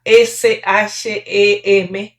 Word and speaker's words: Shem: Bueno, este sem que en en la escritura antigua se pronuncia s h e m shem, significa nombre.